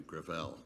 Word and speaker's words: Gravel: With all due respect, let me correct, I pronounce it within my family, Gravel. Gravel? It's a French name.